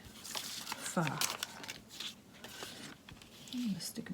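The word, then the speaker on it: phở: over the top and it looks like faux but it's actually pronounced far someone will tell me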